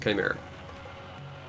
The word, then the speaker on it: chimera: It's pronounced Chimera.